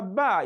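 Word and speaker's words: ب: ba ba ba so the letter ba is pronounced by the meeting of the two lips that is the lower and the upper lips so is at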